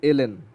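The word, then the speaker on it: ln: আচ্ছা আরেকটা জিনিস বলি, এটা কিন্তু লন না, এটা হচ্ছে এলএন, বাট আমার লন প্রোনাউন্স করতে সুবিধা হয়, তো বাট তোমরা লন এলএন বলারই প্র্যাকটিস করো।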